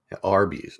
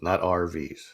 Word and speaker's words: Arby's: Arby's, not RVs. And that's another thing that I felt dumb about. It took me the longest time because it's spelled ARBIE apostrophe S, or ARBY apostrophe S, meaning belonging to Arby.